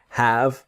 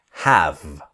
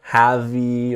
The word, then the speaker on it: have: This is the idea of have and a noun. So the pronunciation is have. Never have-y or anything like this. The E is silent, so it's have.